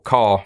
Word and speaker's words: char: unlocked and so on a character or car for short as I pronounce it is just a you